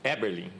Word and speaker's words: Eberlin: Eberlin. Eberlin. Tá, então temos algo em comum, Isso, né? Com certeza. Pelo menos na pronúncia do nome.